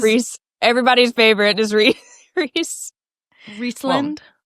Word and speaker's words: Rhys: Rhys is Reese.